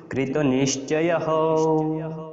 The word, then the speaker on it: कृतनिश्चयः: বিসর্গ থাকলে আমরা হয়ের মতো উচ্চারণ করি, এই জন্য কৃতনিশ্চয়ः।